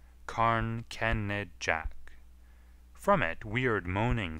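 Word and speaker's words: Carn Kenidjack: a bleak hill between saint just and morva karn kennerjek is its real name but they are taking now to spelling it as it is pronounced karn kenned jack from it weird moaning sounds arise at night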